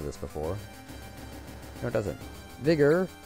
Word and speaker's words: Vigor: before no it doesn't vigor or if you want to pronounce it incorrectly by Gore restores HP by 30%